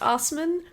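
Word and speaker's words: Assmann: The next one is Hans Osman. Hans Assman? It is pronounced Osman, but it is spelled Assman.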